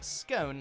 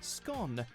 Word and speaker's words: scone: the Republic of Ireland you'll also hear scone like tone but Northern Ireland Northern England Wales and Scotland all usually use the shorter scone people will still understand